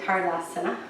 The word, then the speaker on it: Tadasana: I feel like with this going online, I should make sure to say it correctly. Tardasana. It's not totally right either, but my R sound is not perfect yet in Sanskrit.